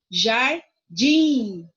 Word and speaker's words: jardim: Jardim, o din é a sílaba mais forte. Olha só, zoológico é a sílaba mais forte ao ló, ok?